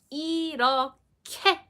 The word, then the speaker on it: 이렇게: We need to pronounce it in an aspirated way, whereas we kind of drop the sound and then also make it into the aspirated sound. 이렇게, 이렇게, 이렇게. I'm kind of exaggerating the way, but you will need that aspirated sound.